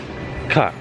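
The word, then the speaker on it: caulk: Here to get some cock.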